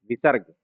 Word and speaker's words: विसर्ग: विसर्ग कहते हैं। इसका उच्चारण ह के समान होता है।